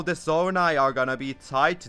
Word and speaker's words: Zonai: And number 2 is the Zonai tribe, or Zona if you prefer the Japanese pronunciation.